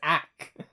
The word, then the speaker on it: ACK: What the fuck is ACK? Rhymes with hack, though, and that, you know, that gets the brain moving.